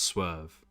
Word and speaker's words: Swerve: It's just Swerve. The same way you pronounce the word.